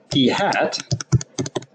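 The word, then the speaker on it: p̂: with this little caret above it which is pronounced P hat so it's P little hat on it is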